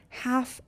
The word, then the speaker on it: half: Half, L is silent.